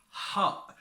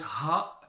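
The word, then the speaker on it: ح: introduce in this video have fun and let's go ha so you pronounce it not ha but ha it comes deep deep ROM from from inside and it comes from down the throat ha if you say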